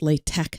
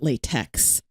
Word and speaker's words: LaTeX: amel that's in fairly common use is called lay Tech it's spelled la te ex but it's pronounced Lai tech not latex late Tec is a purely notational encoding and